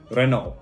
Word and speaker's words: Renault: have renault i say renault renault is a french brand and it is pronounced renault if you want to